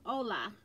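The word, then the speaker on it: hola: know from where uh ola not holla ola i'm sorry i don't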